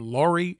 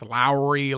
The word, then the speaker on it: Lauri: Low landing Lowry, who if you've been pronouncing his name Lori, it's wrong. Okay, he went on to talk about how it's Lowry, like Lowry seasoning or Mike Lowry from Training Day, whatever.